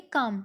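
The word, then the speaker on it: calm: रहे का मतलब शांत इसको क्या पढेंगे काम अतिशय द का मैल यहां पर साइलेंट रहेगा इसमें आप पढेंगे इसको काम एंड साइलेंट मतलब चुप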